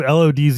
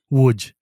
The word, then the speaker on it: Łódź: So the city of Lodz is not pronounced that way. It's pronounced like Yeah, it's Łódź or something, right? Which, Łódź.